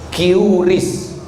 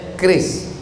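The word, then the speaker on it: QRIS: Curis. Cara bacanya keris.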